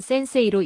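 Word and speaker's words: 先生: 학생이라는 한자는 가쿠세이, 선생은 센세이로 읽습니다.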